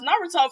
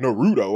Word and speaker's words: Naruto: hell you find out how to pronounce Naruto from the first episode listen look and fol still pronounce Naruto wrong they be like nuto I like where you